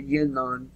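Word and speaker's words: Yinon: Israeli project or Israel project but not the yinan plan it's y i n o n for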